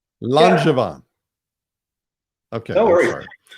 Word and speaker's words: Langevin: It's a French name, and it's pronounced Langevin. Langevin.